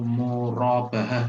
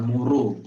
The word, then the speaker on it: murabahah: Jadi ini ada pertanyaan yang nomor 11 dari Novarina dari Tangerang, menanyakan tentang murabahah, bukan muru, tapi yang benar itu adalah murabahah.